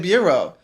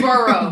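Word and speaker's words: borough: You said bureau. Oh, it is burrow. Burrow, but yeah. I said bureau. Yeah. Like the Bureau of Investigation.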